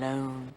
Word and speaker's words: Lone: lone detective long tom tom lone rhymes with cone phone bone look i'm used to